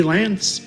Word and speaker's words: Lance: His name just happened to be Lance, which rhymes with Vance.